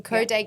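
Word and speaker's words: Codé: you spell it um c o d e and it has an accent above the E amazing coday gallery and where else can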